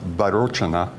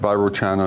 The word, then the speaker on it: Vairocana: Actually, I think that's supposed to be pronounced Vairocana, but Vairocana is what we call him in the States.